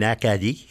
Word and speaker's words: Acadie: Their pronunciation would have been acadi, you know.